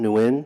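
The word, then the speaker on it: Nguyen: new and if you would please state your name and spell it for the record yes good morning my name is neuen that's do n 10 G u Y E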